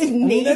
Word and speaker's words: Natick: Jay will say things like Natick. Natick? Yeah. It's Natick.